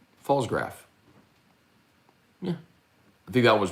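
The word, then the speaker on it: Pfalzgraf: thank you uh yes that's p-f-a-l-z-g-r-a-f that's pretty easy silent p um falls graph yeah i think that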